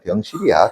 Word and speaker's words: 병실: 발음 잘해야 돼요. 병신이 아니라 병실이야.